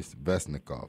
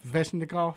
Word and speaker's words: Svechnikov: Andrei Svechnikov. Svechnikov?